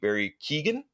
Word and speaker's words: Keoghan: So the new Joker, I guess, is Barry Keoghan. That's how you Keegan, pronounce his name.